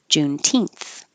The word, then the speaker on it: Juneteenth: The stress is on the teenth. Juneteenth.